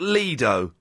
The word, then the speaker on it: lido: It is pronounced Leo.